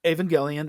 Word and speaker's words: Evangelion: Yeah, and so your preferred way of pronouncing it is Evangelion. Evangelion, because it's one of those questionable things.